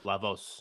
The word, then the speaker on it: La Voz: voz by the way that's the way you pronounce it right lavos yeah cause you want my you know hispanic